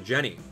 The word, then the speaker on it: Genny: Hey, Abdallah, it's pronounced Genny.